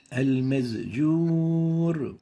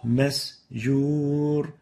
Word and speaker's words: مسجور: Al-mazjur. Al-mazjur. So instead of the sin, we pronounce it as a zay. Al-mazjur. And this is wrong. The proper way of pronouncing it is like this. مسجور Masjur. You have to make sure to pronounce the sin free from the zay sound.